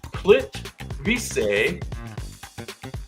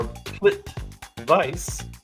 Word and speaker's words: Plitvice: It is called Plitvice or Plitvice. I think it's Vice.